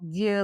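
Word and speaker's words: Vieux: the next exit at V Leon." Well, if you're not familiar with how French is spelled, V is spelled V I E UX.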